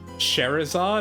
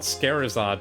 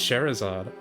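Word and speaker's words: Scherazard: So I think it's pronounced sherzard.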